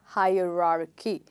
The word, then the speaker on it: hierarchy: You stress here on the first syllable. And like epitome, this also has four parts, okay? And you stress on the first part. And the first part is, hi, yes.